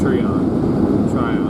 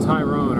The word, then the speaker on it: Tryon: We were all calling it Tyrone earlier, so I know it's not that.